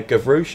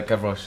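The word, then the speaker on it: Gavroche: You played Gouch. Am I pronouncing that right? Uh, Gavouch. Yeah.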